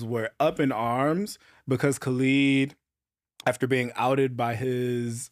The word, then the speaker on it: Khaled: I think we should start with, is his name pronounced Khalid or Khaled? Like I DJ literally Khaled. was going to ask that. I feel like it's Khalid. I think it's Khalid. I feel like it's Khalid too.